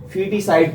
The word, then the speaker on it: feticide: इसका स्पेलिंग 2 तरह से किया जाता है, FETICIDE या इसको FOETICIDE, फीटिसाइड पढ़ा जाता है।